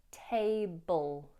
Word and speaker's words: table: The L here is a dark L, all, table, table. So you want to make the sound resonate further back in your mouth so that it creates a darker sound, all, table, to turn the tables.